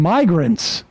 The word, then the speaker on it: migrants: Obviously got crossed up between immigrants, short I, and migrants, long I.